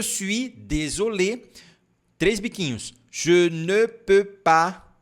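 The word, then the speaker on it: suis: né devagar não su olha aqui ó sui faz o biquinho e depois pronuncia o i normal J sui desol três biquinhos ne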